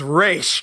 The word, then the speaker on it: Ra's: Or in the wrong case of in Batman Begins, when they were calling him Ra's al Ghul, it's Ra's. It is Ra's al Ghul.